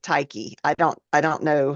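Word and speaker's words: Tyche: Ty c e and there are a lot of different pronunciations um there's ta taii tie she is the Greek goddess and personification of good luck chance and Fortune I've always pronounced it tyi I don't I don't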